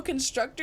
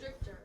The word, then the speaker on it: constrictor: youve been saying Bo Constructor your whole life it's Constructor I've been gaslighted constrictor not Constructor okay so it's constrictor you just saying it wrong your whole entire for